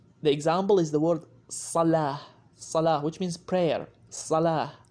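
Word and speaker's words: صلاة: The example is the word salah.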